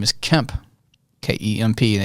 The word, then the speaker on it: Kemp: yeah, hi, this is Kemp with Legendary Marketing, because my real name is Kemp, K-E-M-P. And they would always say, oh, hi, Ken. I'd say, no, it's Kemp. Sorry, Kent.